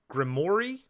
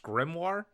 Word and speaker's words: grimoire: no no especially when Allan calls it a grimor when they're actually it's pronounced grimoire there you go maybe